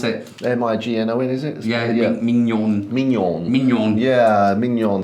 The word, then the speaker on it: mignon: little one the mcmigong Mead and how to pronounce it m i g n o n is it yeah yeah mignon so we've sort